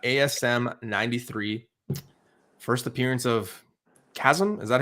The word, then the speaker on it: Chasm: First appearance of Chasm. Is that how you say it? Chasm, you got it.